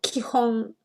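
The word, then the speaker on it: 基本: And then these 2, yeah, are pronounced kihon.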